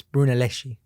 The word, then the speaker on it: Brunelleschi: that dude yeah felipe brunelleschi i probably butchered his last name but it's brunelleschi but i think that's